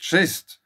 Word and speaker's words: schist: The stone schist, pronounced schist, takes more than its fair share of abuse.